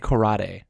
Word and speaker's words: karate: Am I saying it right? Karate. Not rade. Rate. Karate. Right?